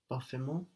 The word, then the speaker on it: parfaitement: We have a silent T in parfait. Will it still be silent when we add Parfaitement.